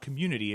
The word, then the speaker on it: Communitea: i pronounce it because it's not community it's community but then instead of the y it's tea so it's like a tea dance um for those who